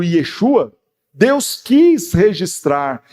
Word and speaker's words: Yeshua: falamos Jesus embora sim na pronúncia do aramaico ou do hebraico o correto fosse o Yeshua Deus quis registrar e